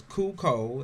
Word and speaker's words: Cuco: It's Cuco. It's CU-CO. And then there's an X behind it. Taz like to call it Cucox, but that's not how you pronounce it.